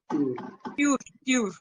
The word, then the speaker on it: voiture: Voiture. Voix. Voiture. This is how we pronounce it.